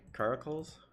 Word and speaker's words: Caracals: I played the Caracals. That's how you pronounce it.